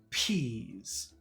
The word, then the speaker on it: peas: Peas.